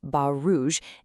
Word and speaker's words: Bas Rouge: In French, this dog is often called Bas Rouge. Now, that's pronounced Bas Rouge, and it literally translates to red stockings.